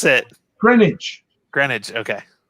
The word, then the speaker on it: Greenwich: it greenwich granite okay i know it's spelt green green witch and i know some of you guys pronounce it green witch but no you've never heard well you do some of you do on the end but you pronounce it like there's only one e so it's green granite greenwich sounds like a